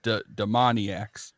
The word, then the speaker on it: Demoniacs: it I was like it's like maniacs but demon demoniacs okay now that you